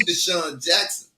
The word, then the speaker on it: DeSean Jackson: corrected me right they was able to tame DeSean Jackson right they was able to muffle uh uh